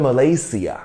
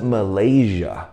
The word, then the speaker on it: Malaysia: 我们要读，不能读成 Sia, 所以不能读成 Malaysia, 要读成 Malaysia, Malaysia, 好不好？And Shannon, that's where you're from.